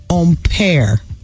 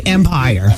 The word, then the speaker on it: empire: a waistline of a dress and tops, is pronounced empire, which is French. Well, I'm not French, so I'll say empire.